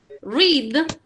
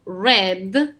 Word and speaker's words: read: Read, leer. Se escribe igual, se pronuncia diferente el pasado, red, como el color.